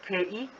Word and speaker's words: 课: the word 课, yeah, the word 课 is pronounced similarly to class in English or class in BM. Kelas, ke. So it's pretty much the first syllable lah, suku kata yang pertama tu, ke, ke. Okay, fourth tone.